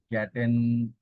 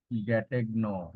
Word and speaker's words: Gattegno: The silent way is the name of a method or approach, you can say, in language teaching devised by Caleb Gatten, Gattegno. Okay, the Bengali pronunciation you can see Caleb Gattegno.